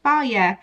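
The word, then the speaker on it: Fage: I had last time I think it's pronounced fire it says it on there pronounced fire so now I know how to finally pronounce this yogurt but anyway when it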